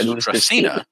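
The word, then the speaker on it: Dracaena: Yeah, in English, thanks to our plant expert Cole, we were all taught that it's pronounced Dracena. But they said that for their world building, they wanted it to be pronounced Dracana to point at the relation to the mythological creature, right?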